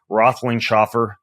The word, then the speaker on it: Roethlingshoefer: today's show, whose name I have difficulty still pronouncing. Not his first name, which is Justin, His last name, Roethlingshoefer.